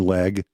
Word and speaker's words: Legge: Katherine Leg, pronounced leg, L E G, a Brit.